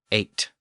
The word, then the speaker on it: eight: disappeared over time and today the GH is silent simply giving us eight and we can apply